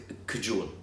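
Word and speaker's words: Kajol: really well get I I know how to pronounce it kajul kajul kajul I heard that come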